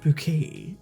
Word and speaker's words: Bucket: Mrs bucket she's like no it's pronounced bouquet and she's got this